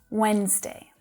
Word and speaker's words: Wednesday: Và chữ D đầu tiên đó hoàn toàn là âm câm. Wednesday.